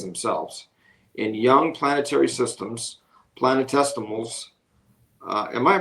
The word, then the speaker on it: planetesimals: In young planetary systems, planetesimals Am I pronouncing that right? Testimal. Yeah, like infinitesimal is just really, really tiny.